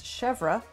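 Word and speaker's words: chèvre: couple different shelves uh didn't pronounce that right it's chevra the first is one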